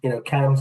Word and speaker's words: CAMHS: CAMS is spelled CAMHS to anyone.